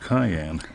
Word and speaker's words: cayenne: I just realized hi, Ann rhymes with cayenne.